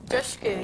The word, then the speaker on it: Dushku: Dushku, yes. Dushku. It's dush like push or tush or... Push. Like push.